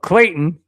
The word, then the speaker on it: Clayton: All right, speaking of Clayton, which rhymes with Payton, here is the next topic.